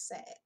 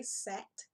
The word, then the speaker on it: sad: Your interviewer may say sat. You want to correct that mispronunciation.